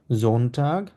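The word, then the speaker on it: Sonntag: জামসটা মানে হচ্ছে স্যাটারডে জোনটা জোনটা মানে হচ্ছে রবিবার এটাকে আমরা জয় এর মত উচ্চারণ করব জোনটা ওকে আচ্ছা এরপর কারো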